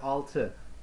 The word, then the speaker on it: altı: Alright, so let's see here, altı, altı, altı, altı, altı, altı. Maybe pronouncing here, pronunciation altı, alright?